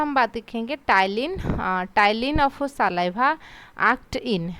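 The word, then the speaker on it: ptyalin: दूसरा नाम होता है टाइलिन यहां पर पीस्ट साइलेंट रहता है आप टाइलिन ऐसे मतलब की प्रोनाउंस कर सकते हो टाइलिन टाइलिन जो होता है एकदम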